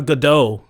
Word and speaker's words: Gadot: Gal Gadot. No, it's Gadot. She pronounced it dot.